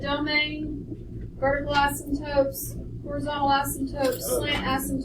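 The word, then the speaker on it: asymptote: has a vertical asmt there is a silent P an ASM toote at x = -4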